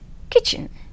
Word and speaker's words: kitchen: p cupboard of a kitchen k i t c h e n kitchen so which letter is silent t you can refer dictionary